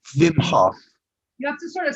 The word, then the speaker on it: Wim Hof: Well, it's WIM, which I assume is pronounced Vim. Vim. Right? Vim. F-A-O-F. Hof. Vim Hof. Wim Hof. You have to sort of snarl your nose. Wim Hof.